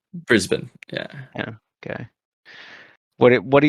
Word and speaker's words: Brisbane: Brisbane? Brisbane, yeah.